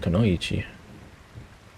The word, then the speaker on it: Kunoichi: Let me see how they pronounce it. I want to say it right. I think it's this Kanochi. Kunoichi. Oh no, this guy said Kunoichi. Alright, so that's how you pronounce it, Kunoichi.